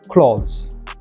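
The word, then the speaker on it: cloth: ক্লথ, ক্লথস। প্রথমটার ক্ষেত্রে ল উচ্চারণ করবেন, ক্লথ।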